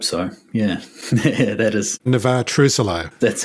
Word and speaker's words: Navexa: Is that the correct pronunciation? I hope so, yeah. Yeah, that is. Navexa.